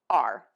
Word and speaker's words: our: another option for you you can pronounce our as are and to do that